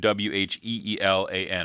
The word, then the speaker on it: Wheelan: That's and the last name Wheelan, Wheelan. Am I saying that right? Yeah, Wheelan.